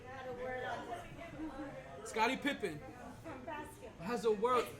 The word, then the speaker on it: Pippen: It's pimping. But his name is Pippen, not Pimpin. Pippen.